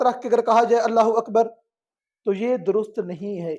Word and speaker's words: اللہ اکبر: اللہ اکبر، اللہ اکبر، اللہ بھی ادا ہو، اکبر بھی ادا ہو۔ اللہ اکبر، اللہ اکبر یہ کوئی لفظ نہیں ہے، یہ نماز کو باطل کرنے کے لیے ہی جملہ کافی ہو سکتا ہے۔ تلفظ کو واضح کیا جائے اللہ اکبر، اور اس پہ دقت کرنی چاہیے۔ ہمیں اپنی نماز کی